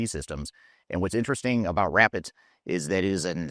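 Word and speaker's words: Rappit: And if you don't know Rapid, it's spelled R-A-P-P-I-T.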